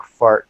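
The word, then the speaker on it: Phart: My name is Fart, the Pirate Poet. Fart is spelled P-H-A-R-T, is an acronym for Pretty Hot and Reasonably Talented.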